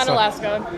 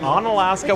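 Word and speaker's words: Onalaska: So, I have Rain from uh Can you pronounce this? On Alaska. On Alaska, Wisconsin.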